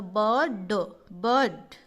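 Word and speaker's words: bird: जैसे ये लिखा हुआ है ब, आई आर लिखा हुआ है तो बर्ड। साउंड में आर जो है ये आधा है, इसीलिए इसका प्रोनाउंस नहीं होता है।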